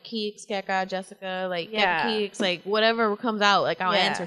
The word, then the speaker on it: Keka Keeks: It's Keka Keeks.